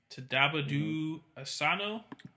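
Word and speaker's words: Tadanobu Asano: I'm not even gonna even try to pronounce his name. Tadabadu Asano.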